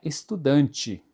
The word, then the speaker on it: estudante: E quando as palavras terminam com a letra e, geralmente termina eh em forma de i, com som de i, estudante, certo?